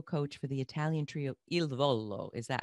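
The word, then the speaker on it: Il Volo: also a vocal coach for the italian trio ildvolo is that how we pronounce it yes yes wow oh my gosh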